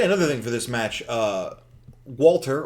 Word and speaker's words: Walter: Walter, or Volter, if you want to pronounce it properly. Volter.